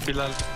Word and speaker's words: Bilal: Bilal. Why'd you put an accent on? Because that's how you say it.